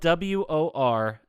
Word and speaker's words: Worcester: No, it's Worcester. I'm like, no. It's like all the letters are silent. Except the W-O in this third. Yeah. It's spelled WORCESTER.